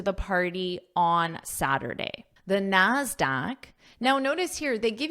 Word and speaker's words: NASDAQ: And the pronunciation of this is a k sound, NASDAQ. And notice it also requires the article, the Dow, the NASDAQ, because it's unique. There's only one, and we use the when something is unique, like the sun, the moon. I wrote that pronunciation here so you remember, NASDAQ with that k sound.